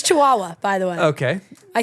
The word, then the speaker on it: Chihuahua: say back no I say chi it's Chihuahua by the way okay I think well I